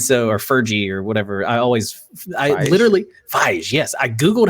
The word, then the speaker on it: Feige: of, like Star Wars, Mando and everything, Kevin Ferg. And so, or Fergie or whatever. Feige.